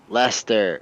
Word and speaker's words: Leicester: you say that right that's leicester lester laster the c is silent that's right used to